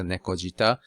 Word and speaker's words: 猫舌: be Taki Zushi so the pronunciation changes when you combine two words together like Neko and shita it turns into nekojita same with take and Sushi it will turn into Take Sushi let's try translator with